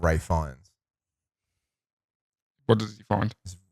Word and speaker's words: Fiennes: pronounce it as Guy Fawkes. Hmm. Just like Ray Fiennes.